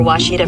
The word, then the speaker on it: Ouachita: I've heard people say Ouachita. Wichita. Ouachita. Ouachita. Is it pronounced Ouachita? Searching for Ouachita Baptist University. Back in Texas, everybody pronounces it Wichita, but really, it's Ouachita.